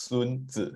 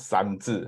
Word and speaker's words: Sun Tzu: So it's pronounced Sun Tzu, huh? And not San Tzu. Huh? So if you can pronounce Sun Tzu, you are actually one level higher, because most people, especially the Europeans, they cannot pronounce this word Sun.